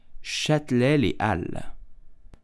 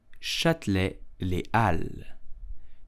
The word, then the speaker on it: Châtelet-les-Halles: You will simply say Châtelet-les-Halles. Châtelet-les-Halles. Châtelet-les-Halles. In French, the H is totally silent and the S of Al is also silent.